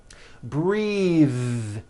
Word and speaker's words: breathe: Breath is a noun. Take a breath, unvoiced. But when you change it into a verb, the vowel changes and it becomes breathe. I am breathing with a voiced TH.